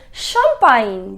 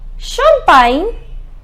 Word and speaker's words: champagne: Baigner, ignorer, soigner, mignon, champignon, champagne et finalement signer. Just remember the pronunciation of GN is near en français.